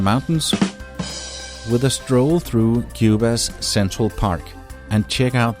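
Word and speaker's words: Quba: look on your face it's actually a city here in aaban Cuba and it's spelled with a que this city is at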